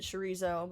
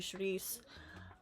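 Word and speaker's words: chouriço: is like you know you white people pronounce it shrio but it's actually sharice.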